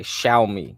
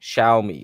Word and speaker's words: Xiaomi: watch list is x i a c y xiaomi xiaomi okay shiai here this is how you spell it x i a o m i they